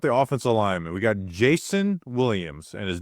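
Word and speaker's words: Jaison: We got Jason Williams and his name is spelled J A I S O N Williams.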